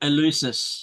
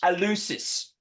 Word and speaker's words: Eleusis: How do you pronounce it? Eleusis. Eleusis.